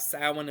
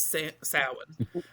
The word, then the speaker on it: Samhain: Tonight, we're here to talk about Samhain in particular.